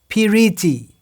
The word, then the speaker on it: piriti: Piriti is another word in Bengali. Priti, piriti in 3 syllables.